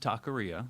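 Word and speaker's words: TaKorea: pronounce that that's pronounced taqueria taqueria to play on a mexican and korean fusion so spelled like korea right ta in front of it yeah because i'm hearing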